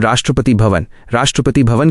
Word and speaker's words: राष्ट्रपति भवन: भारत के प्रेसिडेंट को रहने के लिए एक बहुत ही आलीशान महल मिलता है, जिसे हम राष्ट्रपति भवन कहते हैं। इसका उच्चारण है राष्ट्रपति भवन।